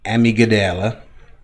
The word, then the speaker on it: amygdala: When you do this repeatedly over months or years, you begin to retrain your runaway amygdala.